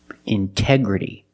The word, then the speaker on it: integrity: Integrity. The stress is after the NT in these words. So we pronounce the T as a pure T.